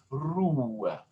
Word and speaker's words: Ruhe: Or Ruhe. There it was a U plus an H. Ruhe, Ruhe. Actually, there needs to be a little accent right there.